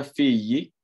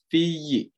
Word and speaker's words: figli: Oke, setelah itu ada figli. Ya, kita jangan lupa teman-teman ya, pelafalannya itu figli, oke, bukan figli.